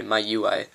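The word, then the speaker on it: MIUI: It's actually, in my opinion, it's kind of closer to it feels almost like MUI if you've ever, sorry, My UI, as we now know it's pronounced.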